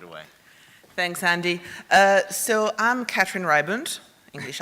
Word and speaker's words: Katrin Ribant: So mine is actually pronounced Katrin Ribant in French, but generally, when it's an English speaker, it's more like Katrin Ribant.